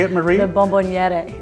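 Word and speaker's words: bomboniera: The bonbonniera.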